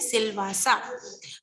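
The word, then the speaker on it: Silvassa: Dadra and Nagar Haveli, capital is सिलवासा, इसको हम pronounce करते हैं सिलवासा।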